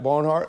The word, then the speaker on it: Barnhardt: Barnhardt, am I saying it right?